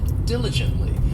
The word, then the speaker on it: diligently: next we have diligently this adverb has four syllables and the stress is on that first syllable diligently and it just means